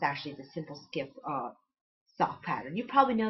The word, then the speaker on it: Skyp: It's actually the Simple Skip sock pattern. You probably know it better as the Simple Skype sock pattern because everyone mispronounces that. SKYP equals skip, not Skype. Skype is SKYPE.